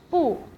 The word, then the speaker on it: 不: it will be 不想不想 Because it is followed by a third tone, so 不 will be pronounced as 不 in fourth tone.